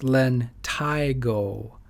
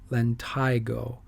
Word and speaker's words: lentigo: are all common akas it's the this is pronounced lentigo lentigo they're typically that's a perfect one they're like